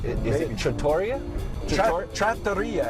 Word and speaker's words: Trattoria: Trattoria, actually. Trattoria. Yeah, Trattoria is the Italian pronunciation.